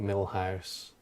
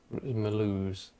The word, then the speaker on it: Mulhouse: We found it very funny because James was pronouncing it Millhouse, Mulhouse, and my monitor, my IEM